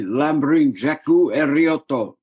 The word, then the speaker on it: Ramblin' Jack Elliott: been there four times they call me lamberin jakku erriotto you know the pronounce of l and r is kind of reversed if a tinker were